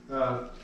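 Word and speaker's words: πνεῦμα: So it's a P-N-E-F sound in English. Pneuma. Okay. Pneuma. So they actually say the P there where we would not. Right, right. So where we have like the word Pneumatic. pneumatic or pneumonia, we just leave off the P at the front.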